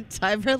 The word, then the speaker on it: Tiver: Tiver like diver. Tiver like diver. Yes, not Tiver like river.